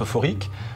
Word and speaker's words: Euphoric: La grande nouveauté, c'est leur nouveau système depuis le début de l'année, qu'on a appelé Euphoric, ça se prononce euphorique, de quoi rendre les